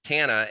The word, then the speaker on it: Tana: It's Tana. There you go. So there's my first error there, and I knew because she was saying you pronounce it Tana as in Montana.